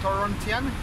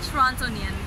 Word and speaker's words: Torontonian: Torontian? How do you say? Torontonian.